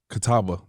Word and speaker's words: Catawba: So the Catawba, am I pronouncing that correct?